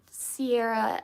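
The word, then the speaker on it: Siarah: Sierra as in like Sarah with an I in it.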